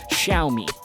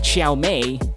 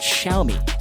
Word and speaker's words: Xiaomi: of this brand, and usually Chinese pronouncers use that with an SH sound and with a bit of a Y after that.